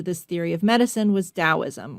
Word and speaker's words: Taoism: Perhaps the largest religious connection to this theory of medicine was Taoism, or some people pronounce it Taoism.